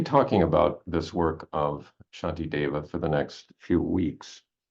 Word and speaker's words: Shantideva: spelled sh uh shaki Dava oh boy uh Shanti DEA Shanti DEA uh okay uh it's spelled in two different ways but the most